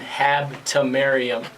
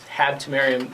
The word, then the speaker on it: Habtemariam: good afternoon Baltimore again my name is Hab to Mariam Hab to Mariam like Mr apparicio just finally pronounced it is 5:40 on a Friday afternoon